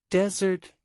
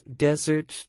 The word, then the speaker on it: desert: or clearer than others for example desert a dry Place versus desert to abandon contest a competition versus